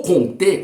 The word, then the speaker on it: Comte: filósofo e também sociólogo Augusto Comte ou conter com a pronúncia Francesa como preferir Ele desenvolveu um segmento